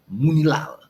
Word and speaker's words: Munilal: Okay, Francis says I'm pronouncing it right. Yeah, I like that name. Munilal.